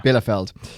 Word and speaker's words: Bielefeld: Bielefeld. Good pronunciation.